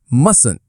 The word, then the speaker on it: mustn't: For mustn't, the T in the middle is silent. We say mustn't.